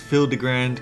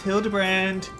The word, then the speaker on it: Hildibrand: Since parting ways of searched every alley and dive bar and ever keep for signs of this Hildigrand character, it's pronounced Hildebrand.